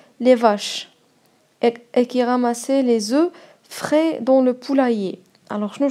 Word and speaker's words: œufs: هنا يا كتلاحظوا باللي مكتوبه اوف ياك ولكن في الجمع البيض في الجمع كيتنطق لي زو الا كان عندكم الا كانت عندكم واحد البيضه كنقولوا ان اوف ولا عندكم البيض بزاف كنقولوا لي زو او بيان دي زو